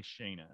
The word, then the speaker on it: Shaena: It's, I go by Shaena. Oh, I go by Shaena. Oh, and Shaena is spelled S-H-A-E. N-A. Shay.